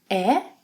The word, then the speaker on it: é: Você, ele, ela, a gente é. Open S sound.